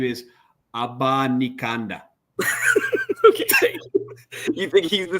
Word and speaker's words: Abanikanda: His name is Abanikanda.